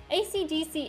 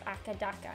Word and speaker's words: AC/DC: performances of their music ACDC is pronounced one letter at a time though the band under colloquially known as akadaka in Australia Academia that's don't forget